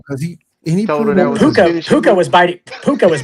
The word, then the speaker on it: Puka: How do you pronounce his first name? P U ca puka.